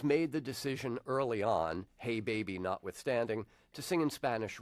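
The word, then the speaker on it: Jei Beibi: now the album title I'm gonna spell the album title and then I want you to tell me how you say it Ruben its jei that's the first word and then the second word is bei bi okay so jei bei bi how do you say this to album title hey baby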